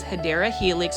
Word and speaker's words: Hedera helix: You can see that this is the first Hydra Helix, or the correct way to say it is Hedera Helix, or English Ivy, $20.98.